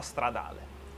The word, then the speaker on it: Stradale: or but SF actually, if I want to pronounce it in Italian way, I should say SF90 Stradale.